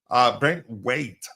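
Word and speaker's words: Branthwaite: Brent White or Brent Wait? Brent Wait.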